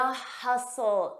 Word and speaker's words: hustle: New York City the hustle and bustle notice that t is silent hustle and bustle hustle